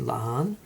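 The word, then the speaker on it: La'an: with um pike and lahan i don't know how to say her name it's supposed to sound like khan um but yeah we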